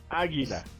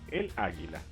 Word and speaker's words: águila: Águila. Águila. Interesantemente, el águila. It's always masculine. El águila? Yes. Oh crap. Here we go. El águila. You know why? Because No. the stress is on the first A.